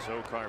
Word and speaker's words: Azocar: Azocar, Azocar, all right, that's how you pronounce it. Azocar.